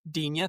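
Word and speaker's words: Digne: How do you pronounce his name? Dena.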